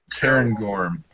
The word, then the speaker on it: Cairngorm: Cairngorm.